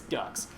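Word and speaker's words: Dux: Hope and uh and Ducks which is it's not du KS it's du but it's still it sounds ridiculous it's pronounced the same it's Ducks but like it doesn't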